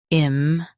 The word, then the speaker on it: impervious: Impervious. Impervious. Stress pure and keep vious smooth.